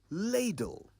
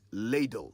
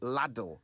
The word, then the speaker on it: ladle: Which brings us to our say it right word for the day, ladle. And it's ladle with one D, not ladle with two Ds. Ladle, ladle.